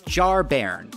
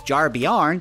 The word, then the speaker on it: Jarbairn: This is Jarbairn, who I've been pronouncing as Jarbjarn because I'm an idiot.